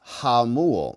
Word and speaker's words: Jamul: Jamul is pronounced Hamul. Okay, so the J is like an H.